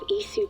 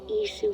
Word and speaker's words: Isu: You have Isu DNA. Isu, that's how you say it, See okay.